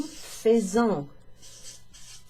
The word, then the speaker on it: faisons: Nous faisons. Nous faisons. Nous faisons. So it's got a Z kind of sound. A bit like when you've got the S and the A. Nous allons, nous faisons.